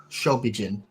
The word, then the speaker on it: Shobijin: How do you pronounce it, actually? I'm curious. I don't remember how. It's Shobijin. Shobijin.